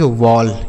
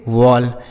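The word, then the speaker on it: wall: डब्ल्यू A double L इसे पढ़ेंगे वॉल। क्या पढ़ेंगे? वॉल।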